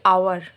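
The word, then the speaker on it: hour: যখন আমরা উচ্চারণ করছি তখন কিন্তু হাওয়ার বলছি না, আমরা বলছি আওয়ার, মানে ও এর উচ্চারণটা আসছে, এইচটা হচ্ছে সাইলেন্ট, এটাকে বলা হয় সাইলেন্ট।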